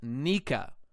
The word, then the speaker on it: Nika: Pronounced Nika.